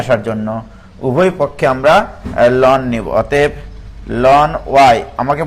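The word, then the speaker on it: ln: তো আমরা উভয় পক্ষে লোন নিব, এলএন লগারিদমিক লোন আমরা এমনি উচ্চারণ করি তাই।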